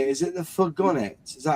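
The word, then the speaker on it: Fourgonnette: Is it the Furgonet? Is that how you say it? The Furgonet? Probably not. Just say Renault. How do you say it then? I would say Fourgonet.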